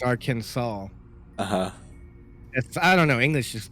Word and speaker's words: Arkansas: Because Arkansas is spelled just like Kansas. It should be Arkansas. It's Arkansas.